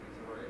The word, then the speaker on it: Missouri: Like I had a real target, Missouri, is the way to pronounce it.